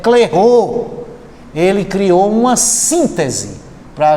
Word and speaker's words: Clairaut: Aí quem resolve essa parada para a gente é um matemático chamado Clairaut, cuja pronúncia é Clairaut.